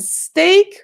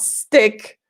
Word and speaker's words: steak: with lemon sauce and steak with potatoes hmm be careful the pronunciation not stick but steak yeah then we have